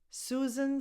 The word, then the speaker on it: Susan: Susan, Sue, you start with a voiceless S. Susan. The second S sounds like a Z. Susan. And the last vowel is just a schwa because the stress goes on Sue.